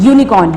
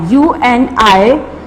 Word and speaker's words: unicorn: Again the word unicorn start with vowel U, but it's not sound, but it's not give the sound of vowel alif. It's unicorn, it's not unicorn. So we use a there.